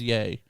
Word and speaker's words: Ye: how it's always spelled he always says yay but it's y e and like he's con